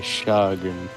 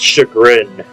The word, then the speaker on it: chagrin: I can barely contain my chagrin. I think it's pronounced chagrin. Chagrin. It's a word I've heard a million times, but I've never actually looked up how to spell it.